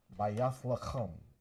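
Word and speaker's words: בית לחם: Bayath lacham. That's how you say it in ancient Hebrew.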